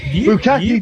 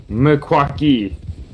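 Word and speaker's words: Meskwaki: By the way, I think you said it wrong just a little bit. Yeah, it's what is yip. Mekwaki. Makwaki did tribe, I and say? we say yip. I'm pretty sure you just said Bukaki.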